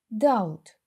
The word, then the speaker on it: doubt: don't Doubt his abilities Зверніть увагу що літера B не читається Doubt Enter входити Enter he